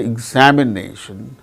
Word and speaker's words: examination: particular syllable that's why in the word examination examination nay the syllable name is marked with primary accent that is before and above the syllable and so that second